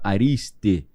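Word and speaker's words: ἄριστοι: Arite dá origem aos ariste, escreve em grego aristoi. Só que o em grego esse de tongo, né? Omicron Oota fala ariste e Aristoil ou ariste são quem?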